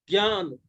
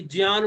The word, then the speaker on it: ज्ञान: आपने सुना होगा कि ज्ञान बोलते हैं, विज्ञान बोलते हैं, तो इसका उच्चारण ज्ञ होता है। क्यों? क्योंकि ज और य और अ दोनों मिलकर ज्ञ बनता है।